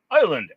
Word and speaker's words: island: Island S is silent.